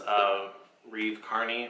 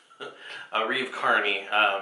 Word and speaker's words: Reeve Carney: like mad about was a wreath Carney was I forgot it already a Reeve Carney I was saying it wrong the other day but yeah uh